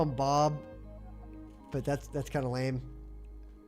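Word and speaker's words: Beau: I'm tempted to call him Bob, but that's kind of lame.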